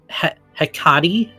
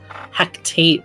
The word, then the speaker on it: Hecate: How do you pronounce Hecate? Hecate? I've been calling it Hecate. Hectate, but there's no T.